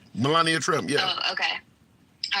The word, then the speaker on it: Melania: pronounced her name wrong I pronounce it Melania I'm not sure if that's correct that's right Melania Trump yeah oh okay